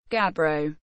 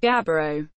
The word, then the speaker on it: gabbro: Gabbro. Pronunciation: ʻɡæbroʊ, refers to a large group of dark, often phaneritic, coarse-grained, mafic intrusive igneous rocks chemically equivalent to basalt.